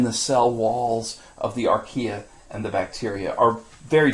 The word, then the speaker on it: Archaea: how you say that anytime you see an A II that AE they're together next to each other you say e and so that is pronounced the domain Archaea and cells or bacteria